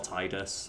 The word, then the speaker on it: Tidus: clarify right now it's tedious or titus i say tigers and teasers interchangeably because i've met people who say both i personally think it should be pronounced titus because tide and the water theming